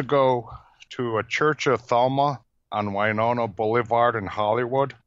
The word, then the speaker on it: Thelema: Head, it's the law of Thelema.